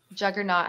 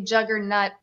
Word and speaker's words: Juggernaut: You say it like not. Juggernaut. Yeah. It's not that. Yeah. Okay, no, I just hear somebody say juggernaut every single time that they pull it, and it sounds serious to me.